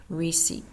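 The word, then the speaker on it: receipt: word include the following silent P receip so you're not hearing the p in that silent b lamb Deb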